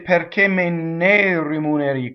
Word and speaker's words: rimuneri: So rimuneri. So the accent is on the U, right? So rimuneri. So all single consonants, single M, single N, and flipped R.